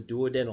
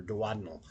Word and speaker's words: duodenal: It goes back past the next one, which is called the duodenal or duodenal, depending on how you say it.